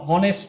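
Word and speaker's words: honest: এরকম বলতে পারে I want to বি এন অনেস্ট ম্যান এন অনেস্ট ম্যান এই অনেস্ট ম্যানটা হচ্ছে গিয়ে আপনার এইচ ভাওয়েলের মত উচ্চারণ হয় এজন্য আপনার হচ্ছে এটা এর জায়গায়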